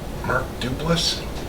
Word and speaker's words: Duplass: Mark Duplass?